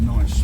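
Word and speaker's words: gneiss: type of granite is called nice with a silent G uh very popular with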